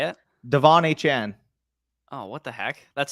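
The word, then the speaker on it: Achane: The fixing how I pronounced his name. So Is A Chan how you're supposed to say it? Devon A Chan.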